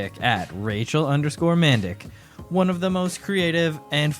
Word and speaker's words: Mandik: welcome to the show you know man and Dick it's pretty pretty simple you in the email you spelled it phonetically for me and I still just couldn't it's Rachel mandic so um but I